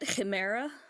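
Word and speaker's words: Ximera: to another god uh how do you pronounce the one uh x-i-m-e-r-a uh i pronounce it chimera right chimera uh so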